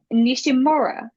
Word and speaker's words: Nishimura: I did not do my research on how do you pronounce this word. So what I Spell did it is for us. it's Nishimura, if I said it right. Nishimura.